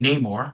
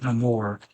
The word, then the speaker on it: Namor: And that would be the Native American delegation drafting Namor, as he is critically pronounced, but Namor was how he was pronounced in Black Panther Wakanda Forever, where I think was